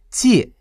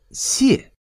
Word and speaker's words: 解: 解是一个多音字，它还有两个读音，分别是借和谢。